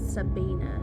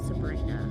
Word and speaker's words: Sabina: I have been saying her name wrong. It's Sabina, not Sabrina.